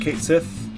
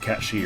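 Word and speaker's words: Cait Sith: Oh, Catchy, not Kate Sith, as I always pronounce it and will always pronounce it. But yes, I understand it is technically like Catchy or something like that.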